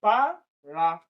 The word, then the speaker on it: paragraph: Paragraph. Paragraph. Paragraph. So this, the first syllable is the one that is stressed.